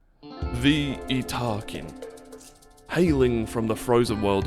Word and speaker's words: Yttakin: The Italkin. Yes, that is how you pronounce their name.